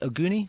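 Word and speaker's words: Oguni: to um the other card how do you pronounce this guy's name is auni versus uh Jonathan Gman is it auni yeah yeah yeah you got you got you got it right you got it right yukinori ooni versus Jonathan Guzman this was another fight that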